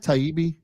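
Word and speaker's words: Taibbi: so uh Elon has uh is it Matt taibi is that how you pronounce it yes you nailed it he's a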